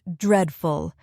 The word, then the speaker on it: dreadful: Another word we practiced earlier was dreadful. Let's practice the pronunciation. It has 2 syllables, dread, full, stress on the first syllable, dreadful.